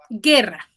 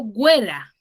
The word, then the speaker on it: guerra: pero cuando tú dices guerra ya qué vocal estás pronunciando la vocaliza vocal la ela vocal solamente está sonando cuál la e porque yo digo guerra yo no digo güera cierto yo digo guerra